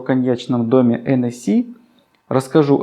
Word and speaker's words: Hennessy: Кстати, произношение не Hennessy, как мы обычно произносим, а французы, если вы скажете им Hennessy, они вас не поймут. Правильное произношение NSC.